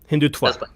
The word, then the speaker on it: Hindutva: to help and my mom doesn't know what hindu tawa is how do you say it by the way hindutva so i'm here to learn and if i'm